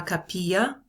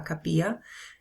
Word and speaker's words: capilla: first one el cafe la capilla notice it rhymes with tortilla right la capilla El Centro al cine